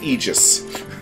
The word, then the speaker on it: Aegis: Remember what Xenoblade 2 has taught you. It's pronounced Aegis.